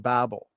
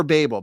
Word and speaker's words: Babel: of really good work on the Tower of Babel. Or Babel, Babel. What's the proper way? I've heard it pronounced both Yes.